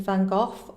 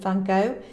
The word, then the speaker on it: Van Gogh: painters for instance vincent van gogh or vincent van gogh depending on where you are in the world and how you prefer to pronounce it who's his genius really